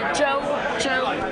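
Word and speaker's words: Zhou: Joe, Z-H-O-U. You can pronounce Joe. Joe. Joe, yes, correct.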